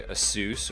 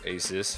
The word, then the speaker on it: Asus: This is the follow-up to the original Nexus 7 and still manufactured by Asus or Asus, however you like to pronounce it.